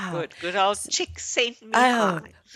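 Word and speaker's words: Csikszentmihalyi: Like do you want the cheat? The cheat way is chick sent me high. That's the only way I remember.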